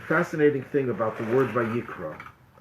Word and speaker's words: Vayikra: Now, there's a fascinating thing about the word Vayikra. The word Vayikra, if you look in the Torah, it is spelled with an aleph at the end. It's a silent letter, but it has to